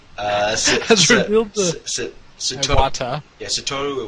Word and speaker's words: Iwata: Nintendo Direct has just finished airing, and Nintendo President Satoru, I can't pronounce his last name, has revealed the Iwata. Yeah, Satoru Iwata.